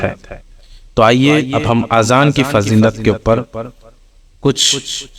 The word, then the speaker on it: اذان: بعض لوگ آذان کہتے ہیں، یہ غلط تلفظ ہیں. آذان جمع ہے اذون کی، اور اذون معنی ہے کان. درست تلفظ اذان ہے.